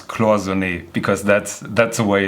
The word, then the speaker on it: Cloisonné: Jamie, as a true Patek connoisseur, you have to learn how to pronounce Cloisonné, because that's the way it's being pronounced.